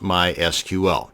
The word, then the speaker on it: MySQL: It is pronounced MySQL.